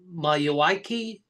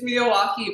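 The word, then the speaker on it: Miyawaki: creating this like micro forest with the uh Mayoi method. Is that did I say it correctly? May it's Miawaukee, but we'll put it in the description.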